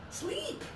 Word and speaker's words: sleep: This one is high tongue, sleep.